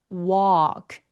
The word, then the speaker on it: walk: 걷다 터키에게 walk 그죠? 예.요 l은 발음교 보시면 어때요? 엘바음이 묵음이에요. 엘발음 아예 없습니다.